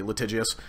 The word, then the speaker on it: litigious: litigious a little tick I think that's a soft G litigious ex-players threatens with lawsuits